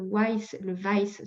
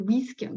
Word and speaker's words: WISC: C'est un test de QI qui définit ce haut potentiel et qui s'appelle le WICE, ça dépend comment on le prononce, pour les adultes ou le WISC pour les enfants.